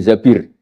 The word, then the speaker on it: Zabir: nikah sama Abdurrahman bin Zabir di hadis ini bukan Mbak Bacanya bukan Zubair tapi Zabir.